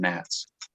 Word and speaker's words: gnats: It's a silent G on Nats.